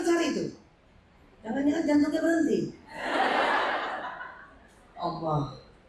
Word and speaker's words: Allah: Allah. Allah. Allah. Makanya sebut Allah itu enggak boleh tipis. Allah. Allah. Karena kalau tipis, maaf ya, kalau tipis ada orang tipis kan bacanya Allah. Enggak bergetar. Allah itu cuma bergetar di leher.